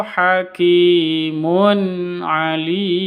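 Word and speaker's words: حكيم عليم: dibaca dengung Jangan dibaca hakimunim itu salah besar ya Jangan dibaca dengung hakimun alim yang betul seperti itu Alim ini awalnya Mad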